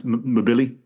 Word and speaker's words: Mbili: Also on the card, Christian Mbili. Did I pronounce that right? Or is it Mabili? Yeah, I say it the same. That's Mabili.